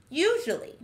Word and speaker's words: usually: Our next word is usually. This word has four syllables.